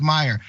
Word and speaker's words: Meijer: Meyer's also, the name is, there's a huge chain of grocery stores and supermarkets in Michigan, and everyone knows it's called Meyer, and it's spelled that way.